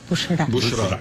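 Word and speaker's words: بشرى: ¿Cómo se dice? Busra. ¿Cómo está escrito? B grande, U, una S con asterisco, y A, Ra. Bushra. Bushra es anuncio.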